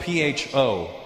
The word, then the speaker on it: Pho: It's spelled P-H-O. Pho. But it's not the way it's pronounced. And in America, people are annoying because I'll be like, yeah, let's go get some pho. And they'll be like, you know, Russell, it's actually pronounced pho. And I'm like, oh, really? Yeah. So, you know, to show respect for the Vietnamese culture, you probably pronounce it pho.